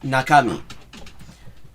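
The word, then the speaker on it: 中身: It's pronounced nakami. It is naka as in middle and mi as in body.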